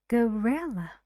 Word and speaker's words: gorilla: only one sound gorilla these two Sounds here need to be very short very fast and your tone is relaxed say gorilla and the stress is on re how many syllables three bill bill do you know